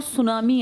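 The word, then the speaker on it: tsunami: इसके आसपास बहुत ज्यादा ज्वालामुखी विस्फोट और सुनामी आते हैं। सुनामी किस भाषा का शब्द है? हां। इसमें टी साइलेंट है। सुनामी लिखते हैं।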